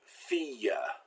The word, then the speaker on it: fille: Now, il in the middle of the word and il at the end of the word are pronounced like I followed by the semivowel Y. So it's not pronounced like an L like it usually is. It turns into a Y sound.